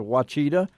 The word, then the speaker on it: Ouachita: Are going to be, they were the champions down at the Ouachita River, or you folks that don't know how to pronounce it, Ouachita.